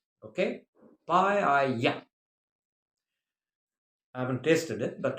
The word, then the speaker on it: paella: and it is pronounced paella. Okay, paella.